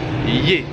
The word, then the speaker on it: Ye: la petite ville de lier ça s'écrit y eu à se prononcer et je vais y